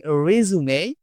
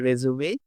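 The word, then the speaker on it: résumé: ওই জীবন বৃত্তান্ত সিভি সেটাকে আমরা যখন বলবো উচ্চারণটা আমরা করবো রেজুমেই। এটা কিন্তু রিজিউম না। সো এখানে কিন্তু আমরা অনেকেই ভুল করি। For example, I submitted my resume yesterday. I submitted my resume yesterday.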